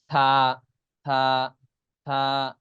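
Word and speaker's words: ث: এখানে দেখে রাখুন হ্যাঁ এরকম দেখতে হবে তা থা থা থা এরকম উচ্চারণ হবে হ্যাঁ জিহ্বা হালকা বের হবে থা থা এটা দেখলে একটু ক্লিয়ার হচ্ছে তাই না থা এরপর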